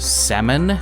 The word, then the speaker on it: salmon: Which common type of fish has a silent L when spelled out? Salmon.